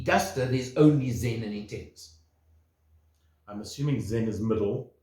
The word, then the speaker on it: Intens: Not intense. No, Intens. Intens. Without the E at the end.